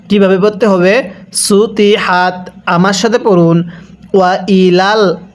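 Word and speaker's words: سُطِحَتْ: পড়াটা সহি শুদ্ধ হবে না কিভাবে পড়তে হবে সুতি হাত আমার সাথে পড়ুন ওয়া ইলাল আরদি পড়ুন ওয়া ইলাল আরদি কাইফা সুতিহাত কিভাবে পড়ব ওইলাল আরদি কাইফা সুতিহাত আরেকবার পড়বেন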